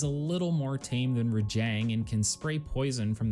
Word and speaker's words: Rajang: There's no, you don't stop at the J. It's a softer Rajang, not J.